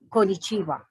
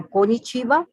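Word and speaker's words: こんにちは: and the japanese form of saying hello is konichiwa it is pronounced exactly the way it is written so konichiwa or hello in japanese so after talking about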